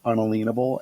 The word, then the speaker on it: unalienable: means and why it matters that word is pronounced unalienable and that was the pronunciation is known by